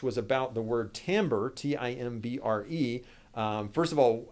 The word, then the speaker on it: timbre: Another question I had in advance was about the word timbre, T-I-M-B-R-E. First of all, how do you pronounce that? Well, timbre, like that. Looks like you might say timber, but it's pronounced timbre.